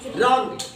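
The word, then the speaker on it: wrong: और डब्ल्यू आर ओ एन जी क्या हुआ रॉन्ग डब्ल्यू आर ओ एन जी रॉन्ग रंग मीन्स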